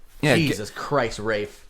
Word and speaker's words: Ralph: literally I want to run into him sorry Rafe he's like it's ray Fiennes like you know